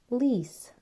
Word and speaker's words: police: Lice. L. E. Here we have the French E, which is an I. Lice.